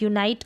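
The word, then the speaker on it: unite: यूनाइट और यूनिट को, अगर इसमें ई नहीं होता, ये जो यूनाइट है तो ये यूनिट बन जाता, यूनिट बन जाता। यूनिट का मतलब इकाई, तो ई लगने से इनका उच्चारण भी अलग हो गया है और इनके मतलब में भी फ़र्क हो गया है।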